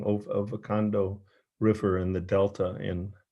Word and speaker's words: Okavango: But they're in rivers, and it showed how they actually, with their bulk, actually create these tributaries in the Okavango, and I'm saying it wrong, Okavango River in the Delta in Africa.